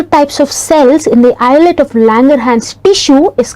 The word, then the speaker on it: islet of Langerhans: this is not college is lit it is pronounced as islet of Langerhans so these cells are only about one to